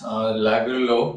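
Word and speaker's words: Lagerlöf: So yes, I pronounce this Lagerlof because she is a Swedish writer and so the name is pronounced in this particular way I did.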